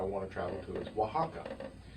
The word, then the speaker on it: Oaxaca: to travel to, is Oaxaca. You would not pronounce it that way if you saw it spelled, because the first letter is an O.